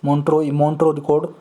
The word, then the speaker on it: Montreux: भी बोलते हैं, मॉन्ट्रेक्स, मॉन्ट्रो रिकॉर्ड पूरा नाम है जी, मॉन्ट्रो रिकॉर्ड या मॉन्ट्रेक्स रिकॉर्ड। अब इसका प्रोनाउंसिएशन आप जो भी करना चाहो कर लो, मॉन्ट्रो रिकॉर्ड या मॉन्ट्रेक्स रिकॉर्ड, MONTREUX, मॉन्ट्रो रिकॉर्ड।